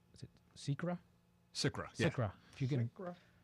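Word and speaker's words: SCRA: SICRA, yeah.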